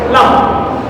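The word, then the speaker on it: لام: দেখো উচ্চারণ লাম, লাম।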